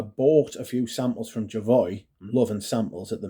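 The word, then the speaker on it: Jovoy: did i get the sample from was it javoir maybe javoy apparently that's how you that's how you pronounce it apparently i've been i've been corrected so i bought a few samples from javoy i'm loving samples at the minute i'm big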